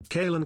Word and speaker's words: Caelan: Chill in. Chill in. Chill in. That's not right either. Kalin.